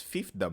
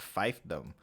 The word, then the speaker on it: fiefdom: oh I'm not fifth that's fifth them not five them it's fifth though okay okay so it's